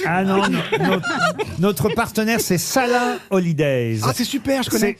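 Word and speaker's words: Salaün: à travers le monde salin holidays ça s'écrit S a l a u avec un trèain sur le N holiday mais ça se dit salin et c'est vrai que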